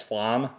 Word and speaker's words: Flam: name was flam right it's not flame it's Flom at least that's how it's spelled and just the way